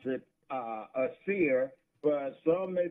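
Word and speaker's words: Acere: And I pronounce it a seer, but some may pronounce it a serrate. Okay. But I say a seer.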